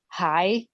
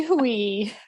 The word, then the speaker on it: Huy: I had to look up how to pronounce it because I thought it was hi, like guy. Yeah, okay, right. But then again, guy actually should be pronounced Guy because it's French. And so Hui kind of sounds similar.